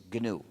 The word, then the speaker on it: GNU: Se escribe GNU, se pronuncia en inglés GNU.